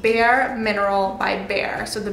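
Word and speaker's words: Behr: Now I know I'll probably get questions about this, so the color on the walls is called Bare Mineral by Bare. So the Bare is spelt B-E-H-R, mineral.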